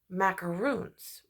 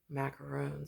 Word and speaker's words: macaron: in the episode they talk about macaroons which is coconut which I'm like no that's weird macarons because it's spelled macron I found that out